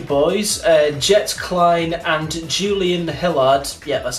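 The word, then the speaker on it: Hilliard: playing the two boys and jets klein and julian hillard yeah that's how you say it they both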